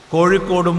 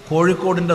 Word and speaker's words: കോഴിക്കോട്: ആക്കുകയാണ് ബോധപൂർവ്വം ബോധപൂർവ്വം മലയാളത്തിൻറെ മലയാളിയുടെ സവിശേഷമായ മറ്റു പ്രദേശത്തുകാർക്ക് ഏറെ വഴങ്ങാത്ത വർണ്ണമാണ് ഇഴ നമുക്ക് വാഴയും കോഴിയും കോഴിക്കോടും മൂഴിയും പൂഴിയും എല്ലാം വഴങ്ങും പക്ഷേ മറ്റു പ്രദേശത്തുള്ളവർക്ക് ഏറെ വഴങ്ങാത്തതാണ് ഇഴ ഇന്ന് പരസ്യ ബോർഡുകളിൽ പോലും